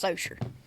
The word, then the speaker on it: Saucier: Well, this is a town like 30 minutes from me, and it's Socier. Yeah, But I don't mean. it's French name, so it's pronounced wrong.